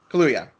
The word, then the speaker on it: Kaluuya: Daniel Kaluuya? Is that how you pronounce it? Hallelujah. Kaluuya.